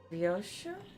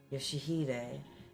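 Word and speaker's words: 良秀: Ryoshu? 아니, 그 글자는 그렇게 읽는 게 아니라 No, that's not how you read those letters. 요시대라고 읽는 거다. Yoshihide. That's how you say it.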